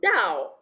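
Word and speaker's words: 倒: They invert it because they say Fu Dao. Now that Dao means upside down. It means upside down. However, because it has the same pronunciation as Dao for arriving, it basically means happiness has arrived.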